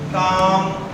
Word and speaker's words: calm: If there is word, there is a letter L between A and M, so L is silent. Balm, calm, palm.